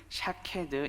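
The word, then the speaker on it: שָׁקֵד: 그대로 실현할 것임을 보여줍니다 이 살구나무 라고 하는 히브리어 단어는 샤 캐드 입니다 그리고 이 지킨다 라는 히브리어 단어는 쇼케이 드 입니다 이 발음이 비슷한 두 단어로 언어 유의적으로 사용을 합니다 앞서 하나님께서 예레미야를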